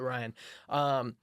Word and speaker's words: RVXN: Changed his name to RVXN is how it's spelled, but Ryan.